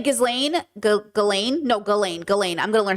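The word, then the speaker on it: Ghislaine: And by the way, can I just say the way people are trying to make this about Jizelain or Gizlane? Gizlane. They're trying to say Gizlane. Galain.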